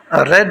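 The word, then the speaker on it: read: रीड रेड असल में second form जो है इसकी स्पेलिंग एक ही जैसी है फर्स्ट जैसी, लेकिन इसको पढ़ते हैं रेड।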